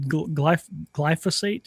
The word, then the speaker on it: glyphosate: Like, we could do that easier than glyphosate. Is that how you pronounce it?